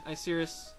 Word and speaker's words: Icirrus: it a video and save the Moor of Icirrus.